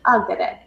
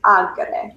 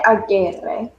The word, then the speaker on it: agere: Say it like habeo, habere, habui, habitus versus ago, agere, egi, actus. Even if you need to emphasize it that much, habere versus agere. Don't say agere.